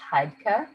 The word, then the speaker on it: Heidke: It's pronounced Heidke.